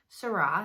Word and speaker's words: Seurat: things from that video the artist sera that's how you say it he uses a different